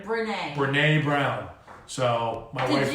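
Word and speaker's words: Brené: Brene.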